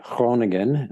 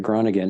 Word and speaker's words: Groningen: I ended up, there was a team in the northern town called Groningen, is how you pronounce it, Groningen in the Netherlands, that their goalie had just left.